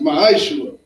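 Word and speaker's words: מעשר: 8 through 10 means 10 and Hebrew and it's pronounced my sugar 10% of every penny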